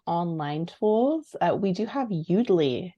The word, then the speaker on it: Yoodli: We do have Udly now, which is spelled YOODLI, and then it's .ai for their website.